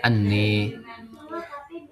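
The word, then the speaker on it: أنّى: Nah, anna bimakna kaifa itu dibacanya anni.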